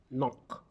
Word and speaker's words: knock: Knock, knock with the letter K silent.